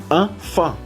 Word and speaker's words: enfant: Enfant, enfant, enfant. Enfants no, porque la S no se pronuncia.